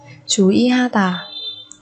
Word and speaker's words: 주의하다: 주의하다. 주의하다. 주의하다. Ở đây nguyên âm ơi chúng ta đặt ở giữa chứ chúng ta không đặt ở đầu, cho nên chúng ta đọc nó thành y.